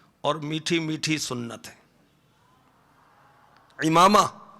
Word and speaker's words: عمامہ: امامہ, بعض کہتے ہیں عمامہ, عمامہ نہیں, امامہ, عین کے نیچے زیر ہے. صحیح تلفظ کیا ہے؟ امامہ.